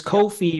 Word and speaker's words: Ko-fi: It says Coffee rhymes with no fee. That's how I know. Oh, okay. No fee. Coffee then.